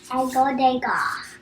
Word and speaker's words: Degas: Edgar Degas. But it's spelled interesting. It looks kind of like Degas.